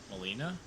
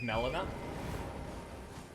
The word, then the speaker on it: Melina: Why do you pronounce it like that? Pronounce what? Molina? Instead of Melina?